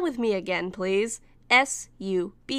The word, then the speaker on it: Subaru: S-U-B-A-R-U, Subaru, like the car brand. Has Sentai Filmworks never heard of the car brand and how it's pronounced?